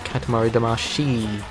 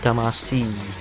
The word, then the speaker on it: Katamari Damacy: game fun trip fun yes this game is Katamari Damacy not gamma scene the reason is because the syllable sheep the syllable C doesn't exist in